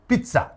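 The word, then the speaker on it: pizza: Gloria রিস আমির স্পিচের পিচ্চা পিচ্চা যেহেতু বিদেশী শব্দ তাই একটু নিয়মের বাইরেই বলছে ওই ইতালিয়ানরা যেভাবে উচ্চারণ করে পিচ্চা ওরা তো পিচ্চাই বলে তোটুক পারে আমির স্পিচে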